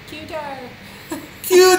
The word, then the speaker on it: Qatar: a t a r Qatar how do you pronounce it qar qar what happens to the a after the Q quar quar very good I think I'm pronouncing so I'm